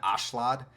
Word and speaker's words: Askeladd: names more correctly because they don't pronounce it Askeladd, they pronounce it Ashlad, which I don't know. It sounds like that should be the correct version, but then again, I